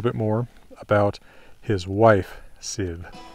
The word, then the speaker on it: Sif: more about his wife sid now i say her name like that because an f that does not begin a word in old norse is pronounced as a v you can see that